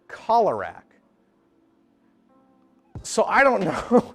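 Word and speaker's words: Keelerak: is the green visarack it's spelled k-e-e-l-e-r-a-k so you'd think it'd be pronounced killerrack but in the movie sidorak talks to one and he calls it cholerak so I don't know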